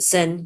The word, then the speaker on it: Seine: The Seine, yeah, that's a famous river.